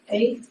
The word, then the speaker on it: Ezra: Ezra.